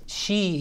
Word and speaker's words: Xi: who said they didn't name it that because she is a common last name except it isn't